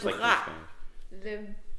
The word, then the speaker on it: bras: Le bras. Like le bras. Bras. Is that like skin bras. Or something? Bras. Bras. Bras. Bras. No, that's what bras. That's the sound. Bras. Oh, it's the R.